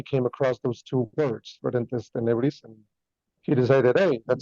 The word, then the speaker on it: Ferentes Tenebris: from the band called Ferentes Tenebris. Did I say that correct? Yeah, it's actually pronounced like Latin. It's Ferentes Tenebris, but yeah, I mean it's fine.